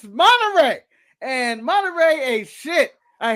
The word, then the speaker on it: Monterey: pronounce it. It's Monterey.